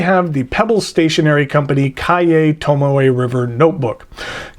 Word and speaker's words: Cahier: the pebble stationery company Calle Tomo a river notebook Calle is not spelled like it sounds at least for English speakers it is CAH ie are its cashier without the s Calle is another word